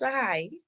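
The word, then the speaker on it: Tsehai: Hi, my name is pronounced Sahai. The T is Sahai, silent.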